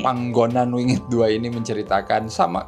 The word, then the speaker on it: Panggonan: tahun ini Ya dengan film pangonan wingit panggonan enggak sih Oh iya panggonan wingit du soalnya g-nya dua jadi aku bacanya panggonan jadi ini adalah sequel